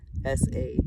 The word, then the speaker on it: saguaro: this is a saguaro s-a-g-u-a-r-o pronounced saguaro the only girl in